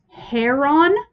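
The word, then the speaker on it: Charon: styx that would be chair carron i must pronounce it wrong or this video said if you want to be pretentious about it it would be heron and the c is silent or heron i don't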